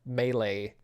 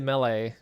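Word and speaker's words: Mêlée: Yeah, it's Malay Island, but you you pronounce it Mele, I'm pretty sure.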